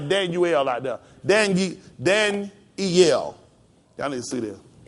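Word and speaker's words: Daniyyel: right d a n why then this this y would make a e sound Danel all you see how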